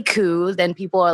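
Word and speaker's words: Khoo: last name and like k-h-o-o is pronounced coo some people pronounce it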